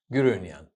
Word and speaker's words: Gurunian: Raffi Gurunian. I didn't say that right. How do you say it? Gurunian.